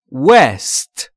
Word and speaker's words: West: W رو وقتی میخواید تلفظ کنید در انگلیسی لبهاتون حالت بوسه انگار که میخواید یار رو ببوسید. West لبها حالت بوسه و یا لوله‌ای میگید West.